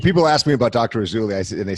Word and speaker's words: Rasouli: Rasouli, and they say, what's his name? I say, it rhymes with Fazuli, even though it's spelled different.